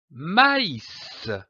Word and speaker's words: maïs: cet accent très m'as indique que la voyelle qui précède doit être prononcée séparément comme par exemple du maïs m'a dit bonjour je